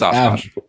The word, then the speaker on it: Oshkosh: I think is It's Hobby Town and Oshkosh, or however the fuck you pronounce that town. But no, Oshkosh, Bagosh. Come on. Yep, it's Oshkosh.